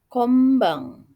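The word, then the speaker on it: こんばん: Kemudian konban ya ditulisnya, dibacanya kombang.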